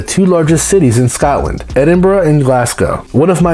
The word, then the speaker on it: Edinburgh: capital and they don't like it when foreigners pronounce it edinboro seriously it's a thing the total area of